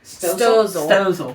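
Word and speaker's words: Stoelzle: Oh, so you know, how do you pronounce it? Stozel.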